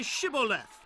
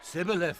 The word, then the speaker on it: Shibboleth: If he said no, then they would say to him, Then say Shibboleth. and he would say, Sibboleth. for he could not pronounce it right.